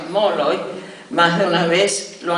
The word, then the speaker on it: Molloy: El mío, irlandés, es inconfundiblemente irlandés en Irlanda, en los Estados Unidos, pero en la Argentina, donde muchas veces se pronuncia Molloy, más de una vez lo han creído judío.